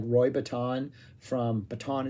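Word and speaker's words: Bittan: And this was essentially a three-piece band, but like Roy Bataan from, Bataan is how you say his name, from the E Street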